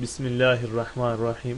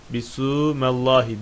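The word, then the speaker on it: بسم الله الرحمن الرحيم: Bismillahirrahmanirrahim. Bu şekilde okuyoruz. Şaz diyorum. Yani kabul edilmeyen bir görüşe göre bismu şeklinde yani bisu mallahi şeklinde bisumellahi diye de okunmakta bismillah.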